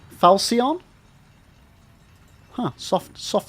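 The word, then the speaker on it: Falchion: Uh, so Zeus, you're saying it's pronounced falsion. Falsion, huh? Soft soft C. But it's a ch. When does ch ever make a s sound? Falsion.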